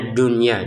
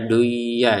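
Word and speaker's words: دنيا: Jadi kita tetap bacanya dunya, jangan dibaca duya ya.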